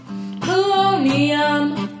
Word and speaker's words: polonium: They only have 1 metal, polonium. Rhymes with bologna gum.